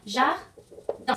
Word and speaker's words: jardin: La pronunciación sería, elle a, un, sonido nasal, jardin. Sonido nasal nuevamente con el sonido un.